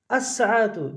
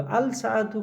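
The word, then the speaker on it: الساعة: আস-সাআতু কেন হলো? আল-সাআতু কেন হলো না? কারণ সিন এমন একটা হরফ যার আগে আল থাকলে লামের উচ্চারণটা হয় না, সিনের উপর তাসদিদ হয়।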